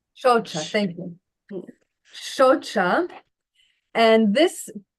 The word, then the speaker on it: Shaucha: Is this Shucha? Is that the correct pronunciation? Again? Yeah, Shaucha. Shocha, thank you.